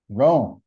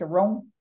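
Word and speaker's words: Roem: working to elect Danica Rome and we're doing photograph in Rome the actual Rome I know it's spelled differently r-o-e-m Danica uh we're also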